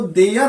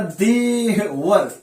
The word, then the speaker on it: there: क्या पढ़ रहा था, देयर को देयर ना करके वो क्या कर रहा था, करता देवर, क्या कर रहा था देवर। ऐसा हम लोग प्रोनाउंसिएशन नहीं करेंगे देवर।